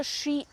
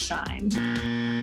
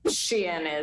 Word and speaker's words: Shein: Yes, I don't think it's Shine. Shein is how I tend to pronounce it.